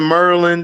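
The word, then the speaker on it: Maryland: You never been to Merlin. That's how they pronounce it.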